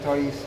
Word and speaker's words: CHOICS: Dan yang kedua yang kita bahas yaitu CHOICS, bacanya Choice.